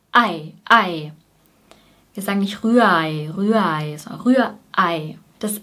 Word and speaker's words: Rührei: Das zweite R ist ein vokalisiertes R. Das bedeutet, es klingt so ähnlich wie ein kurzes A, A, Rühr, Rühr. Das heißt, die Zunge bleibt unten, Rühr, A, A, A, Rühr, Ei. Und EI spricht man als AI aus, Ei, Ei. Ganz kurz.